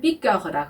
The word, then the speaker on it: piqueur: 여기서도 입술을 오 한 상태에서 에 소리를 내는 발음이 죠. 그래서 piqueur 이렇게 발음을 하는 겁니다.